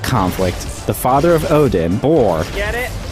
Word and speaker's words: Bor: So during that conflict, the father of Odin, Bor, Get it? Rhymes with defeats Thor.